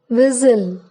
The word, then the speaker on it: whistle: T is silent in the following words: castle, Christmas, fasten, listen, often, whistle, bustle, hasten, soften. If T before CH is not pronounced, for example, catch, stitch, watch.